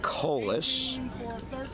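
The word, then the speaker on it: Kaulius: Colis, K-A-U-L-I-U-S, pronounced Colis.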